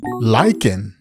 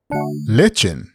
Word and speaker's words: lichen: called lychen actually adventurer it is pronounced as lycan or legend but carry on and